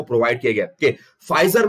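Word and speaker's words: Pfizer: Okay, फाइजर में ये P silent है, याद रखना, फाइजर 1849 में यूएस में क्रिएट की गई थी एंड 70 मिलियन.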